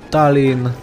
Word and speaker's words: Tallinn: just need to rush Tallinn and it rhymes with Stalin somebody already made a